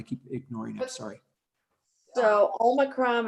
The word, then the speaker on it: omicron: ignoring i'm sorry so omicron is uh yeah it's always it's always it's always pronounced treated short omicron yeah just think of pop pop shot put the two and news